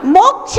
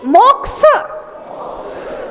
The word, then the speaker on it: मोक्ष: मोक्ष मार्गस्य नेतारम, मोक्ष नहीं, मोक्ष, मोक्ष मार्गस्य नेतारम, मोक्ष मार्गस्य नेतारम, मोक्ष मार्गस्य नेतारम, भेत्तारम कर्म भूभृताम, भेत्तारम कर्म भूभृताम, ज्ञातारम विश्वतत्त्वानाम, ज्ञातारम विश्वतत्त्वानाम।